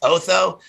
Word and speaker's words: Otho: about his name is he's the name is pronounced otho which i can't help but think of oto